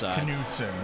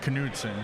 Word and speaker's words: Knudsen: I believe it's Knudsen. Now, the Danish pronunciation is Knudsen because, of course, it's referring to the old King Knud.